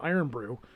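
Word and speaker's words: Irn-Bru: get my case of iron brew which is spelled irn bru so i'm gonna have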